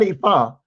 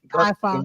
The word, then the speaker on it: Ifa: That's not Ifa.